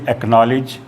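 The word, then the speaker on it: acknowledge: के और क्यू से पहले हमेशा सी जो है वो साइलेंट हो जाता है। जैसे एक्नॉलेज, एक्वायर में यहाँ देखो सी के बाद के लिखा हुआ है और यहाँ सी के बाद क्यू लिखा हुआ है। अगर के या क्यू से पहले सी होता है तो वो हमेशा साइलेंट मान लिया जाता है, उसे बोलते समय उसको प्रोनाउंस नहीं किया जाता है।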